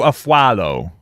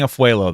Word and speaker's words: Afualo: is about Drew afuelo am I saying it right I think I said it wrong already I I just looked it out wait Drew aflow I'm gonna keep saying afuelo though because it just I can't do it anyway and it says